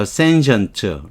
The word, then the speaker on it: sentient: 발음이 션트예요. sentient.